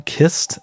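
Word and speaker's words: cist: The first is titled The Etruscan Kist, that's C-I-S-T, and I looked it up. That is apparently how you're meant to pronounce that word.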